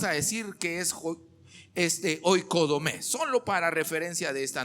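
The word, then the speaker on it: οἰκοδομή: aparece en el Antiguo Testamento es la palabra hoy codomé así se pronuncia hoy codomé de hecho es en griego mismo es ao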